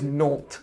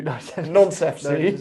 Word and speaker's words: Nantes: I think it's Nantes, because otherwise you do Nonce FC.